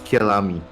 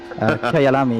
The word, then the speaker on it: Kyalami: We'll try to, from time to time, improve our pronunciation. But yeah, for now, let's just say it's Kyalami, because that's what they say in Assetto Corsa competition.